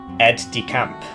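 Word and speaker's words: aide-de-camp: Aid is pronounced like ed. Ed decamp. Is it not odicamp?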